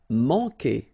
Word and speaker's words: manquer: Manquer. Okay, remember when we get this Q, after that automatically we get this U, but then we don't pronounce the U, okay? So manquer. So it's really que. Manquer.